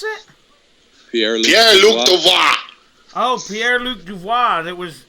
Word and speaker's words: Pierre-Luc Dubois: How you pronounce it? Pierre-Luc Dubois.